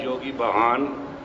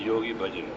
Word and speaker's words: Yogi Bhajan: I am known as Yogi Bahan in 60s. To pronounce correctly, it is Yogi Bhajan.